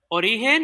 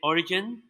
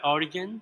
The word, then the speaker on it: Origen: Origen, or most people right here in the United States say Origen, like Origin, but Origen.